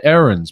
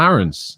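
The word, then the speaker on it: Aarons: on max aaron's as well and i say errands because it's not aaron's is something i've learned already in doing the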